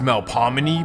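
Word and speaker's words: Melpomene: Now, technically, it should be pronounced Mel Pominy, but it's New Orleans.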